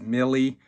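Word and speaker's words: Miele: I went with, I believe it's called, pronounced Millie, a German brand, I think.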